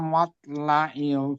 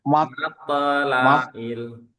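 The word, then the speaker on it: مطلع: Salamun hiya hatta matla'il fajr. Kalau kolanya belum keluar, bukan matla ya. Matla'il.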